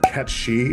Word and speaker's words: Cait Sith: Irish, folk tale of Cait Sith. It's spelled C-A-I-T space S-I-T-H. But Cait Sith is how you would pronounce it in whatever language that is.